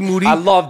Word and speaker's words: Moody: It's the young shooter is here face-to-face live at the LA Gloom Tomb with me, Moody, last name rhymes with Tootie.